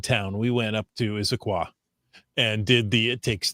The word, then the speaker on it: Issaquah: My husband and I went to, how do we pronounce that, Chris? Issaquah.